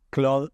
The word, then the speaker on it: Claude: que estoy fanatizado que es Cloud Ai que se escribe Claude a con Cloud por